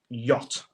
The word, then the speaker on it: yacht: than the first one yacht so yach is spelled y a c HT where's the where's the C the Y and the T where's all the letters yeah because y should